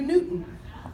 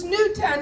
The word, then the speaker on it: Newtown: says Newton Grand Avenue Newton that's not the name of the high school it's Newtown he's shaking his head